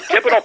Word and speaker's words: Thibodeau: I always have trouble pronouncing that name. Tom Thibodeau.